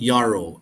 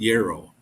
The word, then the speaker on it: Yarrow: no, it's not Yarrow, it's pronounced like an arrow, so Yarrow, Yarrow.